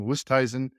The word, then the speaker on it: Oosthuizen: And after 7 years, I just think I learned how to pronounce his name, Oosthuizen.